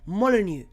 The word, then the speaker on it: Molineux: It is at Molineux. Molineux? I can't pronounce it. Molineux.